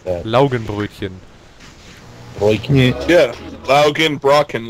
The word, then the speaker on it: Laugenbrötchen: How do you pronounce that? Laugenbrötchen.